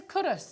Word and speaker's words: Culross: Where's Currus? Is like really near. It's spelt Culross, but it's pronounced Currus, isn't it?